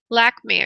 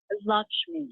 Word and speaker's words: Lakshmi: Okay, I'm going to Lakme, I believe that name is. Did I say that correctly, honey? Lakme? Lakshmi. Lakshmi. Okay, just like it's spelled.